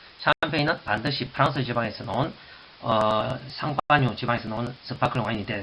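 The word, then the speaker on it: Champagne: 쌍파뉴 지방에서 나는 쌍파뉴, 샴페인, 쌍파뉴.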